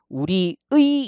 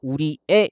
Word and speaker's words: 우리의: 그래서 원칙적으로 우리의 이렇게 발음하는 것 맞고요. 그 다음에 애로 발음해서 우리의 이렇게 발음하는 것도 허용을 해 준다는 겁니다.